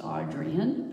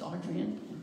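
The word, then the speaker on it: Adrienne: me is Audrey and Rich whose name is pronounced audrian because I went and saw her in Portland and so I'm lucky enough to know that yes it is Adrian when I'm corrected and anyway she does a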